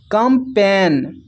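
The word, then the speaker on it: campaign: तो जब जी के बाद एन आए तो जी साइलेंट होता है। तो यहां पर देखिए जी के बाद एन है तो जी यहां पर साइलेंट है। इसको पढ़ पढ़ते हैं। Resign design कमपेन। तो इन सभी में देखिए जी के बाद एन आया हुआ है तो जी सभी में साइलेंट है।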